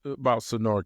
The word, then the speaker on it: SaNora: Let's talk about SaNora Cares. Am I saying it right? You're saying it perfect.